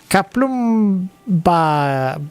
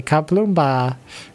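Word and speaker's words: kaplumbağa: Kaplum ba. I think the G is silent. Baya? Is it yeah? Or silent? I've forgotten. It's silent, I think.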